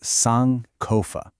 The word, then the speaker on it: Sankofa: You pronounce it Sankofa.